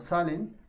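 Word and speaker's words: Zahlen: Bueno, ponen que esta palabra que se llama salen o se pronuncia o se lee como salen, significa número.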